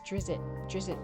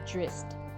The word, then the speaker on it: Drizzt: it's the prequel series, he then purposely had this little human character mispronounce it so he could write it as Drizzt to show it was different, and to show that that's the mispronunciation, and that it's supposed to be Drist rather than Drizzt.